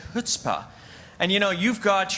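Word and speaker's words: chutzpah: throughout the years for teaching me how to say the word hutzpah I used to say chutzpa and then Mark took me aside he says is hutzpah not chuta and if you say chuta you sound like a schmuck so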